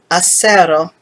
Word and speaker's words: acero: examples to finish cafe when the letter c is in front of the vowels e and i it sounds like the english s in the pronunciation brackets we signal this sound as a a lowercase s following are some examples